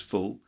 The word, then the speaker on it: full: space the room is full and full meaning like an idiot you stupid fool for example okay so full short sound and fool the long sound for example the room